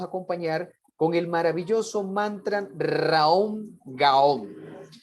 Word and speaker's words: Raom Gaom: Y esa retrospección la podemos acompañar con el maravilloso mantra Raom Gaom, que se pronuncia más o menos de la siguiente manera. Ra, Om, Ga, Om.